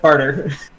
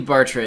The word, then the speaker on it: Bartra: just at all exists is it is Bartra like how it's supposed to be pronounced because I always just said barter I believe Bartra is the correct name XY and you're dunking